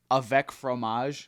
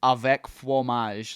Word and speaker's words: avec fromage: knew it was like so in French it's Avec fromage which means with cheese but in Creole it's Avec flomage like it's like my buddy explained it to me as it's like French if uh if a